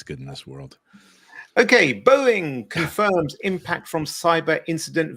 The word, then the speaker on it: Boeing: It's Boeing.